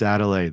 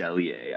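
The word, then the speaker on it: Adeleye: I'm probably going to say the name wrong, but I remember you saying it and you pronounced it right. Toon Meese Adelaide, the defensive lineman for Texas State from mm-hmm.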